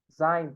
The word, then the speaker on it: sein: Esse EI, gente, tem som de I em alemão. Então, sempre que tiver uma palavra com EI, a gente vai falar I em vez de EI.